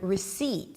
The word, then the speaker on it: receipt: But because there is a P in the spelling of the word, you probably didn't think that I was referring to the word receipt.